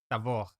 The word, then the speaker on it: Tabor: Deixa só, o monte lá é Tabor, tá? É Tabor em hebraico é com V, Tabor, mas é Tabor, é isso mesmo. É com o quê? É pronunciado como um V.